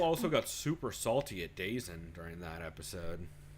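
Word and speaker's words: DAZN: Yeah, Bill also got super salty at Dazen during that episode. Dazon! Nah, dog, it's Dazen, because that's how the fuck they spell it.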